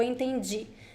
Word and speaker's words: entendi: Entendi or eu entendi. The DI sound sounds like G. G. Entendi.